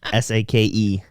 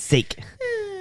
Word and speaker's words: sake: Oh, so that's Actually, that's probably not sake. That's probably sake. I just read that way wrong. S-A-K-E. I was reading it as sake, but it's probably sake.